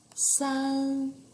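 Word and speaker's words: 三: and we have two lines number three is san san we have three lines remember sen is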